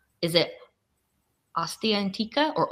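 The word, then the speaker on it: Ostia Antica: mik you have to help me with the pronunciation of this because I always get wrong is it AA antika or osta antika OST antika the first one perfect okay thank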